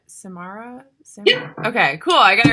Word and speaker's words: Samara: that yeah I is your is your name pronounced Samara yeah okay cool I gotta write um see